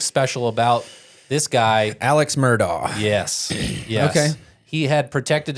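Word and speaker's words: Murdaugh: a Netflix special and Murda was an attorney spell it Mur d a u g there was a net NE Netflix special about this guy Alex murdog yes yes he had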